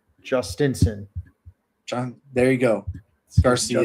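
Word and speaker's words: Jhostynxon: I got the pronunciation guide. It's Justinson.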